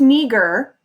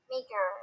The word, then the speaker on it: meager: It's pronounced meager, Meager. but that would be correct. Yay. So, You get so excited. so number 8 is meager. Many immigrants had meager possessions. It sounds like major.